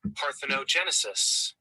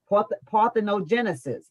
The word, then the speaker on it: parthenogenesis: word here listen to the pronounce but the pronunciation parthenogenesis parthenogenesis and what it means is reproduction from an